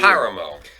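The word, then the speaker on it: Páramo: There's the A accent on the A on the cover. And where's the accent? Up here. Paramo.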